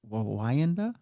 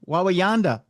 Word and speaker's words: Wawanda: town, but is it Wanda? I don't know. It's It's another town. Uh Wawa Wawanda. Wawanda. That's what it is.